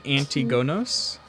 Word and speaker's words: Antigonos: his name was king antigonos okay a-n-t-i-g-o-n-o-s not agnomakos no so darren he rolled